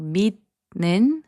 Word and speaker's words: 믿는: So 믿는, which means believing, is pronounced as 믿는.